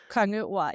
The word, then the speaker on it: Kongeord: Kongeord, is that the right pronunciation? Kongeord, yeah.